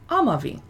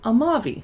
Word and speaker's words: Amavi: Pepper Bridge shares the tasting room with Amavi. I always want to say Amavi. It's Amavi. She told me yesterday, think of it Amavi. Mamma mia.